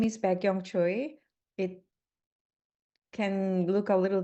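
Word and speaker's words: Baek-Young Choi: um my name is beong Choy it can look a little difficult but if you can remember like back to the young age BAC k then uh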